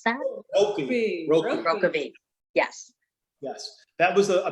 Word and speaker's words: Rokeby: How do you pronounce that? Rockabee.